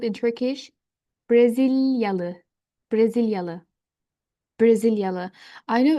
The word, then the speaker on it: Brezilyalı: Like I'm saying syllable to syllable. Brasilia. Tekrar, Brasilia, Brasilia. The people from Brazil, they will be called in Turkish Brezilyalı, Brezilyalı, Brezilyalı.